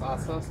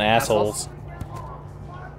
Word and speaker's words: Assos: How do you pronounce Assos? Not assholes. How's that?